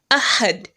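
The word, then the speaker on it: أحد: are focusing on today if you have to stop there on the dal you are to pronounce it as a school instead of dumb mate so it will be ahad listen to karis and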